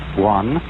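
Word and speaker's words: 觀: which was represented by that Chinese character which I drew at the beginning, pronounced Guan, or quiet observation.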